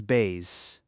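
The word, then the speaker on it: baize: That fabric is bays. Rhymes with llays.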